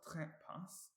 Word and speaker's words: trekpas: In the word trekpas, pas has a short vowel, so it's not stressed. And trek is our first syllable.